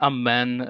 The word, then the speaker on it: Amen: like the Orthodox, but we say Amen like the Latin. I mean, curious, not exactly curious because of the history, but it's curious that we don't say it like them, like the Latin or like the Orthodox, because the Orthodox they say Amin as well.